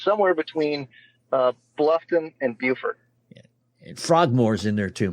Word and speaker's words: Beaufort: So it's Beaufort in South Carolina. Yep. In North Carolina, it's spelled the same, and they call it Beaufort.